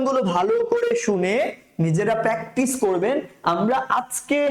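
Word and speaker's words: شين: করে আওয়াজ হবে সিন তারপরটা স্যার সিন সিনটা উচ্চারণ করার সময় কি করতে হবে স্যার মুখ ভর্তি করে আওয়াজ হবে শিন আপনি যখন সিন এটা বলবেন মুখের ভেতরে আওয়াজে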